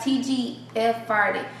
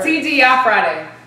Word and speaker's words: TGI Friday: So today we have TGF Friday. I don't know, whatever. TGI Friday. TGI Friday. Yes, thank God it's Friday. That's how you say it.